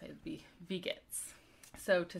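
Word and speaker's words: Wie geht's: ask someone how are you you would say vegets and it's spelled with a w so w-i-e but since it's pronounced it'd be vegas so to say great you could say prima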